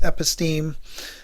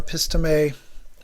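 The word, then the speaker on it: épistémè: according to an epistem another French word it could also be pronounced epistem. Um I prefer epistem.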